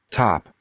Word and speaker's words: top: Top. Top. This is ah, ah. Here, it looks like an O, but pronounced, it's ah, top.